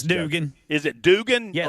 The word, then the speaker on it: Dugan: Dugan or Duggan, I don't know how to pronounce it. It's Dugan.